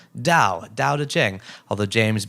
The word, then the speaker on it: Tao: way in the interview i learned that tao is pronounced d-a-o dao dao da jing although